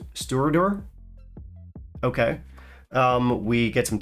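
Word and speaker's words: Stiùireadair: filtered and natural color it does actually give us the correct pronunciation on the back of the bottle as most bunnies do this one is stewardor okay um we get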